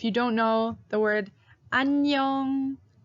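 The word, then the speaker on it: 안녕: don't know the word annyeong annyeong it is how you say hello hi to your friends and that actually contains this circle character twice the first time is silent the second time is that ng so you might want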